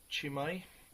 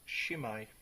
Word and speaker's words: Chimay: looking at is a beer called chimay but he's actually pronounced shimmer so you grab the